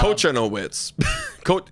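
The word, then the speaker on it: Kochanowicz: Cochanowitz. Cochanowitz. Coach Cochano. Cochanowitz. Witch. Well, it's Coach. It's the CZ at the end.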